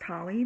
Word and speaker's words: Holly: um my name is professor holly it's pronounced holly my last name like hollywood um so english 102